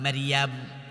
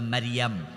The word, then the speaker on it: মারিয়াম: উনার মা মারিয়াম। মায়ের নাম কি? কি নাম? প্যাচ লাগাইয়েন না। মরিয়ম না মারিয়াম?